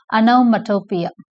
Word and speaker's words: onomatopoeia: This is how it is pronounced, onomatopoeia, right?